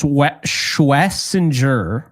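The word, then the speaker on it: Schwesinger: Schwensinger? Like So Schwensinger? apparently it's Schwessinger, but I can never say that without slowing it down.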